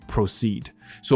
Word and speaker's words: proceeds: proceeded to get onto the bus。没听到，然后呢，他就接下来呢上了公车。所以 proceed 这个字就是进行了，接下来了。所以他就进行上公车的动作，proceed。So proceed to do something 就是开始做那件事情。多补一个字哈，我们如果把这个 proceed 变成加了一个 s 的话，它的发音我们有讲过，也是我观众有提醒过一件事情啊，分享过一件事情，就是如果说一个词有动词、名词的词性的时候，通常动词的重音在后面。所以我刚念 proceed 的确重音在后面。而名词重音在前面，所以这里加了 s 变成名词的时候，它的确发音就变成了 proceeds。这个 proceeds 就是我们讲说做一个事情，然后它的那个余额啊。那我们常讲这个余额会捐给慈善机构，所以你会听到人家在那种例如说什么筹款晚会上啊，他会讲到